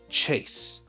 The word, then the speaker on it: chase: So ch is ch, right? A is the letter A. S is S. And then we said it's a bopper, right? So it's a silent E that is not part of the sounds. That silent E that's at the very end and our last letter is going to jump over the S to make the A say its name.